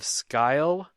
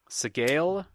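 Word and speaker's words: Sgàil: You know how to say I've always pronounced it scale. Scale? Like the scales of a fish, but with, I guess, a little bit more g in there. Yeah, it's a Gaelic word, and if I have any weakness in my life, it's Gaelic pronunciation.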